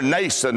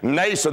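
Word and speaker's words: Mnason: I remember Nason, that is spelled M-N-A-S-O-N. Nason, the Bible says he was an old disciple.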